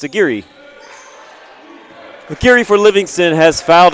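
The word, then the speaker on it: Aguirre: Aguire. It's not aguire. It's a giri.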